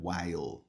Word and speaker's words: while: Eu escuto muita gente falary, mas aqui termina com l, então é while.